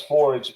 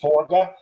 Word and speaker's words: Forge: on it um Tobias they call him Tobias Forge but it's actually tobiased forga uh so I'm going to say it the